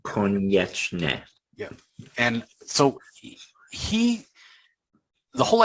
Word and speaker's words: Konieczny: Konieczny. Yeah. It's a Polish last name, Konieczny.